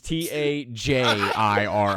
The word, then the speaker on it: Tajiri: How'd you spell it? Tagiri. Okay, so you did spell it wrong. What? No, that's not wrong. That is wrong. It is Tajiri.